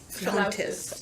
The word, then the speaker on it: flautist: Wait, it's spelled with an A-U. Interesting. Yeah, that's not a flaunt. Flautist. Flautist. I know A flaunt? it's flautist, but it definitely looks like flauntist.